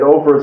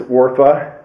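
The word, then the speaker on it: Orpah: there that said that Oprah's real name is orpa and that people mispronounced it Oprah but I believe that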